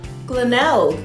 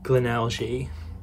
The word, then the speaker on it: Glenelg: Not Glenelg. I feel like the G is silent. Let's go with Glenelg. Glenelg, Maryland.